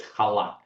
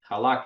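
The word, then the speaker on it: chalak: And then there's halak. Halak is Halak, halak. It's really spelled with a C, but yeah, if the ch sometimes it's hard, but it's halak, or known as Bet Yosef.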